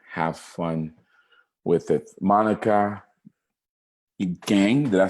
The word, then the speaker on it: Kang: Monica Kang, did I say it right? Monica Kang.